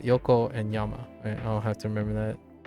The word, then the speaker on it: Yokoyama: And I think Yokohama, I keep forgetting. I'm sorry. I keep getting the one syllable. Yeah, Yokoyama. So Yoko and Yama. I'll have to remember that. So Yokoyama, I personally remember reading some interviews about 5, right?